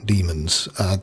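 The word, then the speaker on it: daemons: And that's how it is pronounced as well, demons. That's just an old archaic spelling.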